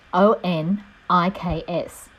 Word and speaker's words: onyx: our images for fingernails the technical term for the nail is onyx pronounced Oh N IKS it is used frequently